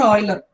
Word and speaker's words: Euler: Either you can pronounce it as Euler or Euler.